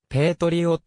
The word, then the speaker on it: Patriot: の suv である北米ではペイトリオッツとと発音する 2006 年 4 月